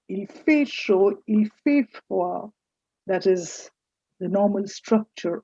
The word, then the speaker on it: froid: Il fait froid. Froid. Last d is silent.